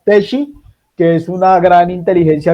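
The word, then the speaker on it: Teachi: Se escribe thi. T e a c h i. Pues eso haciéndole eh pauta gratuita a Teshi, que es una gran inteligencia artificial implementada por docentes para docentes.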